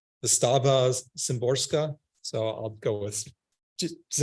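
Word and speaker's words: Wisława Szymborska: I don't know how to pronounce her first name. Wystawa Szymborska.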